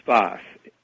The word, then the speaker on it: Sfath: Whose name was Sfath. That may not help matters, but he was called Sfath. I believe that was spelled S-F-A-T-H.